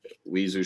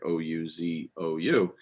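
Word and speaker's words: Aouzou: It's like the Ouzo Strip or Ozu Strip. I'm pronouncing that wrong. It's like Ouzou.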